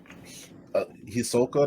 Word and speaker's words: Hisoka: gold wants to get in golden's pants um hisoka that's how you say it so so the